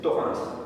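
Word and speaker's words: Thorens: Torrin, on peut prononce pas le S mais c'est Torin.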